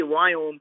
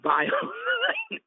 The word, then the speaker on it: Viome: As being an Indian, I cannot pronounce the word we. So when I say Viome, you really mean biome. Right. So it's V as in Victor, IOME.